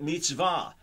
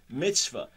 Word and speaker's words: mitzvah: But mitzvah, or pronounced in a colloquial way, mitzvah, commandment, and then just something good, a good deed.